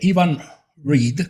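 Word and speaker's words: Iwan Rheon: Hay una parte muy dura de Game of Thrones donde Ramsay Bolton, el actor es Ivan Reed, creo, se pronuncia así, Ramsay Bolton tortura Theon Greyjoy, que es Alfie Allen.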